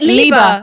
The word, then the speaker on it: Liebe: Maybe that my pronunciation was wrong then. Liebe. Yeah, Liebe. Liebe is love.